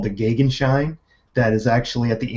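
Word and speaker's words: Gegenschein: the pronunciation of that two or three sites agree that the German pronunciation is the gig and shine so po people tell me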